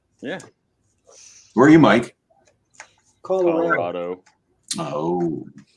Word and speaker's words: Colorado: where are you Mike Colorado oh notice he's the only one that pronounces that right Colorado anyway I uh I've